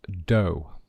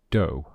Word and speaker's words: dough: so this thing here this food is called do be careful of the pronunciation do and this is a rolling pin a rolling